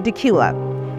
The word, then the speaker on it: Dacula: Well, this charming city has a one-of-a-kind name, and it's pronounced Dacula.